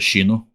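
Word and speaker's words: Xyno: Uh, I thought it's Shino like S X Y N X Y N O X Y and I think and I think I've heard it in Portuguese as Shino.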